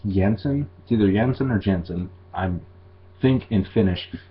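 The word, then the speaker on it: Jansen: to the Yemen or Jensen I'm thinkin finished it is pronounced Jensen so floor Jensen ah is the new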